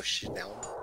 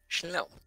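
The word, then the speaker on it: Snelm: Yes, It's a snail helm, so Schnelm.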